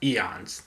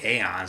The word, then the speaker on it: Aeons: I looked it up. Eons. That's the most definitive answer I could find. If you want to say Aeons, I can't really blame you for that either.